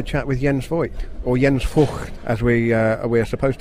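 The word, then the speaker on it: Jens Voigt: with yen's Floyd or yen's for as we are we're supposed to say because that's how the Germans pronounce his surname Daniel pronunciation police is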